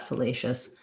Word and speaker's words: fallacious: well so that there we would have the the schwa sound lay just with second syllable stress um yeah i'm i'm confident about that fallacious um having to do with the fallacy um so it changes between fallacy and fallacious because of the syllable stress what vowel sounds you'll